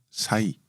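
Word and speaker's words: 災: 일본어로는 사이. 사이. 한자 제자가 일본 말로 발음을 하면 사이니까 제목은 사이 제앙이 되겠고요.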